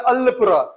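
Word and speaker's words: Alappuzha: इन केरला है ना ट प्लेस इ नॉट प्रोनाउंस अलल या अल अल ऐसा नहीं वो लोग प्रोनाउंस करते हैं अलपुरा अल्पर एलपी ठीक है ये है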